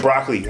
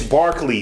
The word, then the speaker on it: Barkley: knowledge Charles Brockley um I said Brockley I said it's Barkley Charles Barkley right okay I butchered the